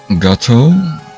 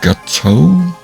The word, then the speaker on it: Gateau: First of all, you may call me go uh go gate. It's not like the other gate. It's more gateau.